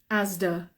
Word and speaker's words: Asda: Spencers Marks and Spencers Asda Asda yeah very good okay Asda with with Asda we write s but we say Z Asda Asda lovely very good thank